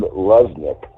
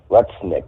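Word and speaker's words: Lutnick: heard this um Howard Lesnik Lesnik I believe it's pronounced he's a economic senior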